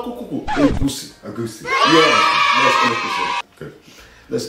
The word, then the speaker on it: egusi: Can you pronounce it? Goosies? No, EGUSI.